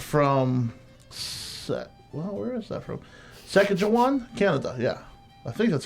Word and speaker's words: Saskatchewan: Saskatchewan, Canada. Yeah, I think that's how you pronounce Saskatchewan.